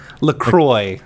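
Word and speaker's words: LaCroix: pronounce lree that's funny lroy lroy it in it rhymes with enjoy okay I'm I do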